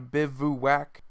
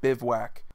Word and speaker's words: bivouac: it is bivouac and there are technically two pronunciations where you enunciate three syllables so you're going bivouac and then there's the other pronunciation that's just bivouac next we have another